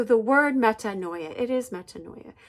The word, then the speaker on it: metanoia: Okay, and so the word metanoia, it is metanoia. The word noia in Greek is like your N-O-U-S, like a noose.